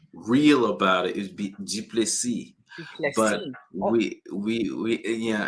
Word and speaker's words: Duplessy: And I hope, that I am pronouncing your last name correctly because I can be definitely challenged. So, welcome. It's Duplessy, but it's one of those things where, if